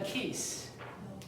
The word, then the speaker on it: keys: The keys. Keys. 그 열쇠인데 열쇠 꾸러미죠. 하나가 아니에요. 꾸러미. Keys 하는데 이것도 길게 발음하는 거죠. 키스 하면 뭐야? 그렇죠?